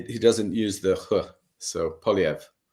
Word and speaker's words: Poilievre: Because every time I call him Pvra because as you say Canada is a bilingual I get told it's polyv yeah it doesn't he he doesn't use the so polyv polyv okay